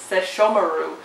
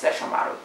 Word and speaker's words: Sesshomaru: Inuyasha I love you Yasha I love says Sesshomaru this is the way to say it in the English dub one but I believe the pronunciation like correctly it's Sesshomaru anyway that would be this lovely guy at